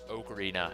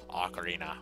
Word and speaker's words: Ocarina: instead of acarina um it was to my understanding that they could be pronounced either way and uh I always prefer to call it okarina as opposed to Ocarina which to me just